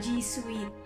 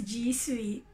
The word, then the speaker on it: G Suite: So, ang pronunciation po niya, G Suite, para pong sweetheart. So, once again, all together now, it's G Suite.